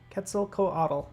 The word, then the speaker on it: Quetzalcoatl: mascot that sounds awesome what cats cats Quetzalcoatl Quetzalcoatl that's how you say it I'm Way off